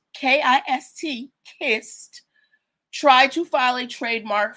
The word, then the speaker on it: Kist: Recently, a brand called KIST, Kissed, tried to file a trademark for sparkling water and soda products.